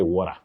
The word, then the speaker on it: water: But Wakio, we don't say water. Water, it sounds unique, but it's not acceptable. Many people love sometimes, making pronunciations sound unique or American in some way, but water is simply water.